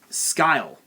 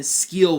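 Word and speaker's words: Skiel: And for some reason people pronounce it as Granel and Skyle. For some reason they're pronounced Grenell, which is the earth attribute, Weissel, which is the dark, and then Skeel, which is the wind attribute.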